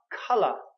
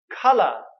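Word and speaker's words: colour: have the you okay so again the pronunciation for this one is cut color color so it's almost like two sounds cut love color alright the through the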